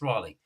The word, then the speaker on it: Raleigh: called Raleigh bikes you if you call them rally bikes that's because it's badly pronounced it's Raleigh but anyway Raley is North